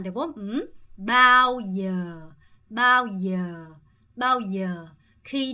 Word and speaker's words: bao giờ: 이렇게 두 음이 있을 때는 첫 번째 음을 좀 짧게 하시고 두 번째 음에 조금 더 강세를 주면서 bao giờ 한국 한국 이렇게 해주시는 게 훨씬 자연스럽다고 말씀드렸죠.